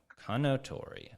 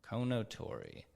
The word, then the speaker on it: Kounotori: members of the team how should I be pronouncing this I know that it's a Japanese word yeah yeah gotcha Kano Tori okay Kono Tori it looks like it would be it looks